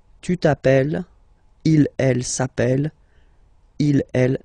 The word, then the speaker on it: appelle: You tend to pronounce it like a, really open.